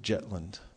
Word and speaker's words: Zetland: them were interested especially Lord zetland other pronounced Lord jetland and he had some